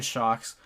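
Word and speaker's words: Sjokz: of shocks I mean it's it's spelled s-j-o-k-z um but it's translated to shock so what happened to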